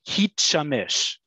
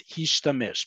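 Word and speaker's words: הִשְׁתַּמֵּשׁ: It's a completely normal verb, but because if you were to pronounce it according to Hitpael, it would be Hitshamesh, which is not the word. It's Hishtamesh because the root, the shoresh, is Shin Mem Shin.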